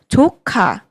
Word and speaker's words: 조카: I am careful with the pronunciation of 조카 Please speak with more emphasis on "조" and say "카" clearly. 조카 if you pronounce it incorrectly, it can sound like a bad word.